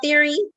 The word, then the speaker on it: Thierry: right oh i am saying it right right theory theory okay um and where we can purchase